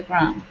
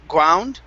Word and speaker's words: ground: here okay um uh give me a good g r sound instead of ground ground it's g ground gr ground run run